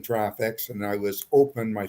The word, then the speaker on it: Traffix: did you say and i said traffics he said how do you spell that and i spelled t-r-a-f-f-i-x and gord said you can't